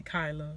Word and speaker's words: Kyla: We say Kyla, but it's spelled like Kayla.